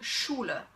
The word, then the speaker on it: Schule: So basically, in every word where the SCH is in one syllable, you pronounce it sh, okay? For example, der Schnee, okay? Der Schnee. Or schenken, schenken. Or die Schule, die Schule.